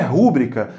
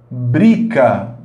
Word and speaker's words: rubrica: A palavra vou cortar aqui, olha, não há acento, essa palavra não é rúbrica, a palavra é rubrica. Rubrica. Isto é, a sílaba tônica dessa palavra está aqui, olha, na penúltima posição.